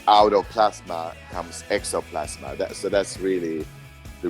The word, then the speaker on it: XOPlasma: podcast um this is roland from the band exoplasma is that correct yes that's correct okay i